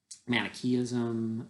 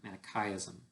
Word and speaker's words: Manichaeism: He became interested in one of these heretical doctrines in particular, and people sometimes call it Manichaeism, but I believe the correct pronunciation is actually Manichaeism.